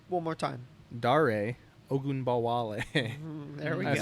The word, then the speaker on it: Dare Ogunbowale: Dare Ogunbowale.